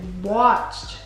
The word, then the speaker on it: watched: You put a D at the end.